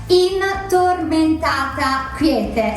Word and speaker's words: Tormentata Quiete: Quiete, which is a very difficult name to pronounce, I know it, so I'll repeat it slowly so you can try home. Tormentata Quiete.